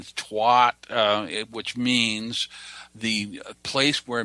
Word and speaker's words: Tuat: It's spelled T-U-A-T, and Twat, which means the place where mystical visions are achieved.